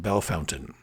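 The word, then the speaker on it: Bellefontaine: yeah by the way that is pronounced bell fountain bell fountain so don't waste your time saying wait you're saying that wrong well if i was in france i might be saying it wrong but in ohio i'm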